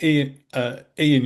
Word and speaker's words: Eoin: So this is a very old book, but by Ian Young, I think it's spelled Eoin.